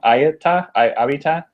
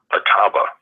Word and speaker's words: Ataba: Abita? No, it's really easy, actually. It's just Ataba.